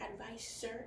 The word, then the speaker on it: advisor: I kind of like the Z sound, so I'm usually going to say advisor. But advisor is correct.